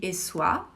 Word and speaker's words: Essoyes: por exemplo, por essa cidadezinha de Essois, se escreve Essoyes, mas se pronuncia Essois, que é a pequena cidade super charmosa aonde viveu o Renoir.